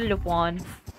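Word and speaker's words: Lupin: यार स्मॉफिंग लुपॉन लुपॉन एक सीरीज आई थी ना ल्यूपिन करके पर उसको प्रोनाउंस करते लुपॉन मैं भी ल्यूपिन ही बोलते थे स्टिल इनसाइड यहां पर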